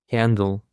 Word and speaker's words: handle: Handle. The stress is on the first syllable, handle.